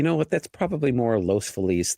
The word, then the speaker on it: Los Feliz: It's Los Feliz, not Los Feliz. It's Los Feliz. It's just Felix Navidad.